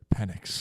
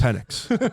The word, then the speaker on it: Penix: Penix. Penix.